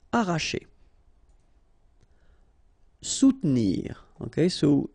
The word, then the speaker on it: soutenir: Soutenir. Okay, so sous first, and then don't insist on this here. Soutenir, soutenir.